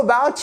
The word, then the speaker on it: about: How about you? How about you? About. Accentuation sur la seconde syllabe.